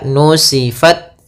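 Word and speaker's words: نُسِفَتْ: Kemudian makhrajnya adalah salah satu sifatnya ta itu adalah syiddah. Syiddah itu e tertahannya suara. Kemudian hames mengalirnya suara itu yang paling tampak. Maka nusifat pertama gitu. Langkah pertama at baru kasih hames.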